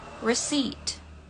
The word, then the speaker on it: receipt: kita dapat kata ini, receipt. Receipt. Jadi untuk pengucapannya enggak pakai P, enggak receipt, enggak recept, tapi receipt. Receipt. Jadi langsung aja ke T-nya, P-nya enggak dibaca.